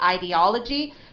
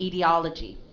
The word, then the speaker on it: ideology: Okay, you can read the first syllable. The first sound as a long I or a short I. You can say ideology or you can say ideology. Okay, ideology or ideology, and it's stressed on the third syllable.